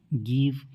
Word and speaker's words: give: GIVE, गिव।